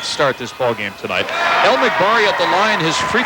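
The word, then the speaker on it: El Magbari: El McBari at the line. His free throw is no good. His last name is spelled E-L-M-A-G-B-A-R-I. Faraj El McBari, a 6'4 sophomore.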